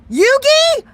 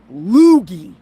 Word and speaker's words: Yugi: I said it right, Yugi. I said your name right. It still reminds me of Loogie. So Yugi. Not Loogie.